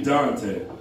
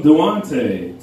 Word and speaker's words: Duante: My name is actually Dante, but my mom decided to be special and spell it a little unique, right? It's D-U-A-N-T-E. That means I get everything from Duante to Duant to even Dwayne. Like there's not a T in it.